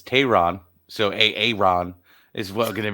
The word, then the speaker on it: Teheran: a nickname because we've been saying his last name wrong it's Tehran so Aaron is well